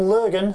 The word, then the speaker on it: Lurgan: how it all began, really, because you're from Lurgan in Northern Ireland, is that right? That's pronounced right, that right?